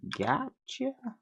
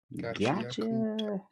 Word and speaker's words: Gachiakuta: See, is season 2 of Gotcha? Gachiakuta. Cool. You need me to spell it for you?